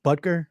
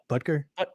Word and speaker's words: Butker: It's like Butker, right? It's Butker. Butker.